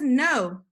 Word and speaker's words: know: Yes, it's a word that we want to recognize, but we also want to know how to spell it correctly, okay? So this word is no.